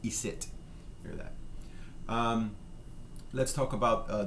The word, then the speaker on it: icit: Icit is, again, an old pronunciation, an old, we found in France, old French in parts of France, we find that in old Acadian French, it's pronounced isit.